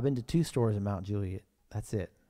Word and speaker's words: Mount Juliet: to two stores in Mount Julie that's it Mount Juliet there's no L it's just like Mount Juliet Nate Carter asks for